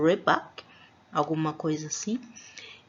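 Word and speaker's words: рыбак: E existe, né, é uma pronúncia, é claro, própria deles, algo como rebak, alguma coisa assim.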